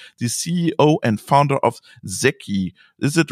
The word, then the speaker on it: Zeki: And my guest is Thomas Hurd, the CEO and founder of Zeki. Is it right pronounced, Thomas?